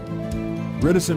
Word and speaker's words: reticent: Reticent rhymes with silent.